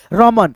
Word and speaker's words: रमन: लेकिन उच्चारण जब करेंगे आप लोग तो रमन में जो है ना न का ध्वनि साइलेंट रहेगा दोस्तों। यानी अ का सम्मिलित नहीं रहेगा। ध्वनि न में दोस्तों।